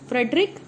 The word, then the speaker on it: Friedrich: So spelling is FRIEDRICH, Frederick Misher, MIESCHER, in 1869 in pus cell.